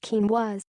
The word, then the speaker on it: quinoa: Pronounced quinoa, this ancient food closely resembles rice or couscous.